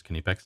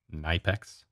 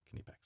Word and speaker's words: Knipex: kinipex cobra pliers now the way you pronounce that word is kanepex not nypex you can watch the various from germany videos about their tools and they say can you packs pretty consistently can epex so these are the